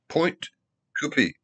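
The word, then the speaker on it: Pointe Coupee: Point Coupee.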